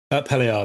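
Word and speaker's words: Up Helly Aa: Um, now I think that's is it pronounced up? Uphalia.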